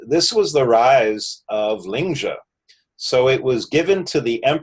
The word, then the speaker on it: Lingzhi: in northern China, and they use the pronunciation Lingzhi. You'll always hear them always pronounce it Lingzhi. So I've been trying to change my pronunciation to be more in alignment with the way the chairman pronounces it.